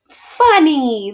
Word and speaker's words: funny: don't say again and this y is pronounced like e so usually you'd read this and you say uh what is this word keepa cubs funny that's right like something